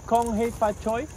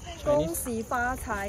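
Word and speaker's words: 恭喜發財: Chinese or Kong Hei Fa Choi is Cantonese. Kong Hei Fa Choi, yes. How do you say the other way? Gong Si Fa Cai is a Chinese.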